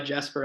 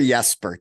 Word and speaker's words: Jesper: getting spoon fed by Jasper out there yeah Jasper Jesper Jesper I believe that Jay is silent I still call him